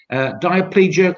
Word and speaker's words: diplegic: And you've got, and you'll have to perhaps correct my pronunciation here between you, diplegic cerebral palsy.